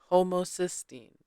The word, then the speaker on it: homocysteine: in the front so I would pronounce it hosin maybe I just don't know how to read but then when I clicked on the little sound bit for it to pronounce it pronounce it to me oh my God words English where are you it says homocystine homosysteine which I wasn't pronouncing it correctly to begin with and I had a